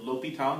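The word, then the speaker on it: L'Hôpital: word hospital in it although the s is silent so it's actually l'hopital not hospital or the hospital this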